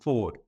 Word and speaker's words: Foord: and it just felt right but it's actually pronounced Ford um I've been around 19 years I've worked